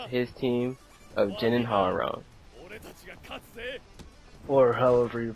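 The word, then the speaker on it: Hwoarang: My team, Ken and Ryu, versus his team of Jin and Harong. Or however you pronounce that. It's Harong! I don't care what anyone says! Harong is way better than Harang. Harang sounds ignorant as hell.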